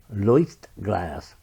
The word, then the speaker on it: Leuchtglas: It was made by this company, Leuchtglas. Yeah, I looked up how to pronounce it. It's a German word.